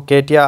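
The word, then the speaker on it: Katje: Basically ये Dutch नाम है, इसको केटिया आप प्रोनाउंस करेंगे।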